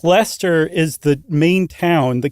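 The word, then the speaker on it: Leicester: Why is Lester the only one that's not pronouncing the SH? It is. That's Lester.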